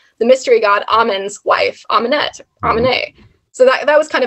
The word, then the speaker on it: Amunet: want to call it, his consort was Amunet, A-M-E-N-E-T, but the French pronunciation of that is Amune.